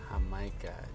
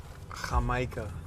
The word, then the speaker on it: jamaica: Jamaica. You know we don't pronounce the J with a J. Jamaica.